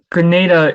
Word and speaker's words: Grenada: Granada and why so Grenada is that's that's how we Americans say it um is so